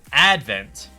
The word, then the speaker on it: Advent: It's the wrong way to pronounce that because this is Advent. The emphasis is on the first syllable, Advent.